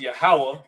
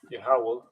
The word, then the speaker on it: Yahweh: actually explaining is that this is pronounced Yahweh, right? Let's just get that out the way. Yahweh.